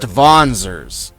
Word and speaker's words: Wanzer: Such conflicts gave rise to Wanzers. It's pronounced Vonzers.